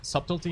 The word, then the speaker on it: subtlety: I'm doing uh with subtlety. So, pretty much everything I keep pronouncing it subt what being like, "What the is a subty rogue?" And I didn't know it was pronounced subtlety.